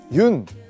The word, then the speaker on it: 윤: 여기 보시면 흙이 있는데요 많은 분들이 아마 그 윤 이제 윤이라고 읽거든요 연이라고 읽으실 수도 있고 뭐 여러가지 방법으로 읽을 수 있는데 그 유년근 화백 님의